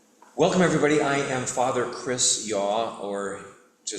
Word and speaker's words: Chris Yaw: title yep yep welcome everybody I am father Chris yaw or to spell it for you um the very Reverend CH